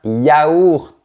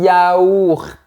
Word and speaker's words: yaourt: Mais si tu es au régime, tu prends un yaourt. C'est une vraie gymnastique de la bouche. Un yaourt.